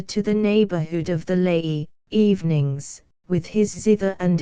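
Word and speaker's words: Lei: high rock called the Le or Le pronounced like our word lie in the rine and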